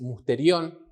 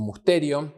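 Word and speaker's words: μυστήριον: La palabra misterio en el original es musterión, o musterion, con acento en la E.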